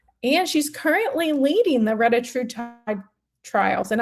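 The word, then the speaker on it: retatrutide: she's currently leading the reatride trials and I'm going to pronounce it reatride because she pronounced it reatride. Now, there was two other doctors there that pronounced it retatrat.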